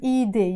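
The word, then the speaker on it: إيدي: So in Arabic we will say my hand eide. You notice we will write eidi, but we will pronounce it eide.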